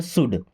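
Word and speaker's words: should: शुड एस एच ओ यू एल डी। यहां पे L silent होता है।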